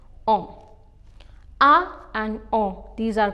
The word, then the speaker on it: en: With the city, we use a, and with the country, we use en, which is pronounced as on.